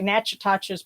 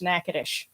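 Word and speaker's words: Natchitoches: a funny name um it looks like natches but it's actually uh pronounced nakadish yes it's an Indian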